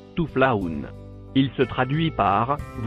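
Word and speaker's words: تفلحون: Et enfin le dernier mot écrit en couleur marron, il se prononce Touflaoun.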